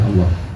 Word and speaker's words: Allah: KW, tiruan dari pendaran ilmu yang bersama-sama dengan pribadinya Allah. Oke. Allah sebagai kata, sebagai simbol, ini kan ada yang bacanya mufakham, bahasa tafsir Allah, ada yang dibaca muraqqaq, Allah.